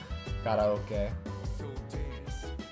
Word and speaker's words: karaoke: Karaoke. It's because that would be how it's pronounced in Japanese, is karaoke.